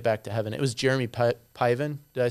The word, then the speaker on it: Jeremy Piven: order to get back to heaven it was jeremy piven did i say his name right yes see